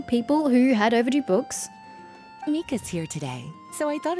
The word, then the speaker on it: Mika: Okay, it's Mika. I probably should have assumed it was going to be the Japanese pronunciation.